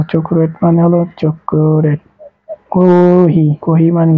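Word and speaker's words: コーヒー: চক্রেট মানে হলো চক্রেট কহি কহি মানে কি কফি কহি মানে কহি এই যে টান আছে কহি টান দিতে হবে কহি মানে হলো কফি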